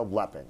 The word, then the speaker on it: Lepping: Rebecca Lepping.